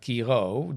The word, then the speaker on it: Kiiroo: But obviously in English, when you have one, in Dutch we say like Kiiroo, double O, you pronounce like an O, but in English it's obviously one O, you pronounce like an O, right?